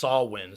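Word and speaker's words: Samhain: was reading about uh sawwin which is s-a-m-h-a-i-n but you it's pronounced sawwin summer's end ancient celtic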